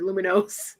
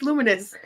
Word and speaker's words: Luminous: great Symphony of us I always want to say it like it's like a Spanish word luminos it's luminous come on luminous it's so it's a combination of uh illuminations and harmonious luminous yes Fair Play